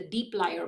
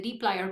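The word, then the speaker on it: dplyr: today's lab we're going to talk about the Deep lier package that's really how it's pronounced the Deep lier package which is another core package of the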